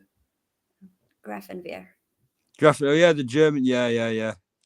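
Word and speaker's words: Grafenwöhr: Grafenwehr.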